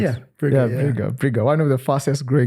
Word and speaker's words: Breega: Is that how it's pronounced? Yeah, Breega.